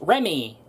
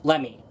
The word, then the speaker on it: Lemmy: They will go about and say the character's name is pronounced Remy and spelt Remy. But, however, when it came to the lovely Lemmy Pachinko machine, we basically ended up finding out the hard way that her name is actually supposed to be spelt Lemmy and is pronounced Lemmy. Yeah, I know.